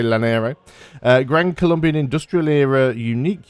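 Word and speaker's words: Llanero: It's probably not Hlanero because double L in is Closest to me, the place that's pronounces double L is Wales, which is a hl sound. It's not going to be that, so I'm just going to say Lanero.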